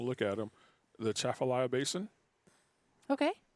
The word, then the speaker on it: Atchafalaya: If there's no A, I think you don't pronounce the A, Yeah, you do. right? You do? Yeah. The Chaffalaya Basin. Yeah, but it's a soft A. It's not a hard A.